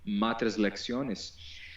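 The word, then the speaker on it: matres lectionis: algo como o eh como as matres lectones ou que a gente pode pronunciar portuguesando como matres lexiones, não havia representação nenhuma de qualquer vogal, era só eram só consoantes.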